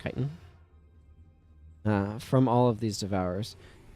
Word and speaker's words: chitin: gotten so much chitin from I think it's pronounced chitin from all of these devours but somewhere over